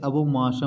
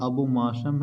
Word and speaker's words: abomasum: और ये जो हल्का सा ये लाइनिंग ये जो लाइन की तरह दिख रहा है इसे अबोमाशम बोलते हैं। इसकी स्पेलिंग बेटा जी ये है ABOMASUM।